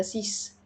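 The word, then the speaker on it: six: لما بيجي في الارقام يعني زي رقم سته سيس رقم 10 ديس طيب امتى بنطقه ز لما بيجي في ارقام بس مركبه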